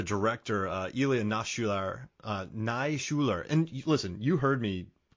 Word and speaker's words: Naishuller: he and the director uh Ilya nashula uh Nai Schuler and listen you heard me learn his pronunciation before this episode I was sure man